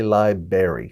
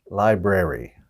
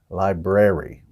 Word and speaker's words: library: library we don't say libary some people pronounce it a berry but there's another R in there so it should be library library so it should be